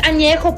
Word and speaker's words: Añejo: least you can do is learn how to pronounce the tequilas correctly. Blanca, Reposado, Añejo. What the fuck is Añejo? It's Añejo, puñetas.